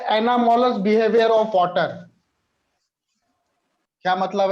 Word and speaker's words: anomalous: अब आता है एनामोलस बिहेवियर ऑफ वाटर। क्या मतलब है? एनामोलस बिहेवियर ऑफ वाटर, अजीबो गरीब।